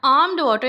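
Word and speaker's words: almond water: आमड वाटर, यहाँ पे ए के बाद एल साइलेंट है।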